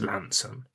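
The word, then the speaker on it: Launceston: as Lson, but obviously down here we pronounce it as Lanson.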